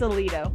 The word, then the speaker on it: Aledo: It's Aledo.